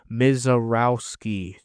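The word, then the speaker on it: Misiorowski: And then the Brewers, I had to fucking chat GPT how to pronounce this guy's name. Mizarowski.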